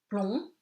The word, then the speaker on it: plomb: Plomb, you don't pronounce the B, le B is silent.